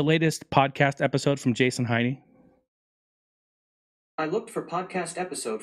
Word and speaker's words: Heine: So technically, my name is pronounced Heine, obviously German. But for some odd reason down the road, long, long time ago, they converted it or just started to pronounce it Heine.